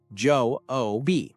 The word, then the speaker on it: Job: It's called the book of Job, pronounced Joe O.